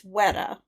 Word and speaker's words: Weta: wrong every time and according to what i read it's weta so that's what i'm